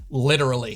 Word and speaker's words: literally: So this word becomes the 4-syllable literally. When I was back in South Jersey last fall, I had someone point out that they could tell I had a weird accent because I supposedly used the British version of this word. It's odd that I never realized it beforehand, but it is quicker to say at only 3 syllables, albeit with a slight pause.